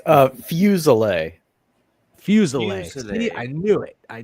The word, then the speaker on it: Fuselier: It's uh Fuselet.